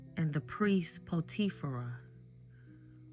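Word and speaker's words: Potiphera: Joseph's firstborn Manasse and his second born Ephraim and the priest Potifera.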